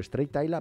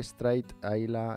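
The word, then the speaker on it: Strathisla: Bueno, se escribe Straight. O sea, si lo queréis buscar, es Stratisla, ¿vale?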